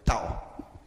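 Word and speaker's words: ταῦ: O tau tem o som da letra T em português, como em tem, e é esse som mais forte. T, tal. O nome dessa letra é tal.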